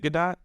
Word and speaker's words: Gadot: She pronounces it Gadot or something along those lines where the T is actually prominent. It's not Gadot. It's not silent. I think the T actually makes the sound.